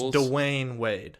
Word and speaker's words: Dwyane: too simple like it's dwayne wade it's two syllables yeah because for some